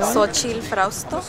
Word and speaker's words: Solchi Frausto: Solchi Frausto.